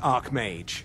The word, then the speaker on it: Archmage: Greetings, Archmage. Oh, I'm the Archmage. Shut up. Oh no, I've been pronouncing it wrong all this time.